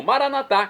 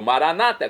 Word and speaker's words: Maranata: E agora eu clamo, Maranatá, como dizemos nós católicos, ou Maranata, como dizem nossos irmãos separados, os evangélicos ou protestantes. Não importa a pronúncia, porque o significado é o mesmo.